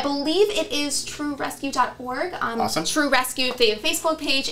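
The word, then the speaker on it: TRU Rescue: The charity we're working with this quarter, they are called True Rescue. True Rescue. Yes, and that's spelled TRU, and it stands for They Rescued Us.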